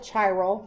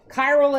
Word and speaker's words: chiral: okay so I've heard some people call it Charl that's fine if you want to pronounce it that way okay chiral is the way that I've always heard it